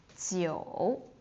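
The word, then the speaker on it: 九: Ba, and it doesn't drop, so it sounds sounds like I'm singing, but ba Jiu Jiu, it's low again.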